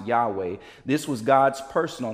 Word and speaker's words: Yahweh: this name and the original text would be pronounced Yahweh this was God's personal name this the name